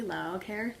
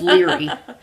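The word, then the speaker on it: Laoghaire: I'm assuming you pronounced it phonetically, Laocair. Uh-huh. And it's Leary.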